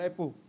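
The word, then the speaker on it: rapport: train शैक्षणिक आर A double P ओ आर टी T silent होता है रेपो रेपो with the industries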